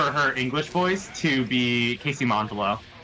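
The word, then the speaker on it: Casey Mongillo: English voice to be Casey mongalo mongalo I don't know how to say it Cas no it's casy mongello is is that the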